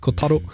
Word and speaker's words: Kotaro: Kotaro, and yes, I know it's pronounced Kotaro, but I speak English, okay?